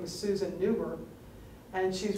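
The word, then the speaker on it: Neuber: I'm going to spell it for you. It's N-E-U, B as in boy, E-R. Newberg.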